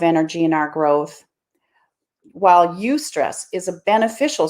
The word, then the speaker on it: eustress: we learned this in massage school stress and use stress i never heard of you stress before it's spelled e-u-s-t and so it's got the word